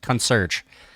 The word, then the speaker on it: concierge: Concierge. How do you say it? Yeah, just like that. Concierge.